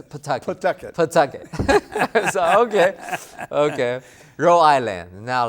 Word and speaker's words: Pawtucket: I thought it's pronounced as Pataki. Right. You're like, no, it's Pataki. Pawtucket.